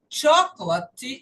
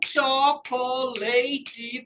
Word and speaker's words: chocolate: O E, falei para vocês, não é pronunciado. Se ele não é pronunciado, ele está escondido para cá. Ele escondeu em alguma vogal. e não conta. Se o E não conta, vamos revisar? Quantas sílabas nós temos? Se ele não conta, não conta. Então, nós temos aqui 1, 2, 3. Você tem que falar chocolate em 3 partes. E não chocolate, como eu escuto em maioria, infelizmente, até de alguns colegas.